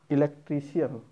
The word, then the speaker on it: electrician: Next word is electrician. It's wrong, but it is electrician. Electrician. Electrician. Electrician. Okay. This is not cian. This is shan.